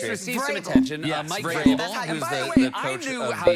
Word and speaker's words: Vrabel: Mike Vrabel, who's the coach of the I knew how to say it because, you know, New England Patriots.